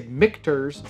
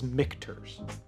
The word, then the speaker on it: Michter's: was the mikters and i say mcters because i often say mcners i know that's the how you pronounce it that's just the way it comes out of my mouth i know it is mcterz just to clarify so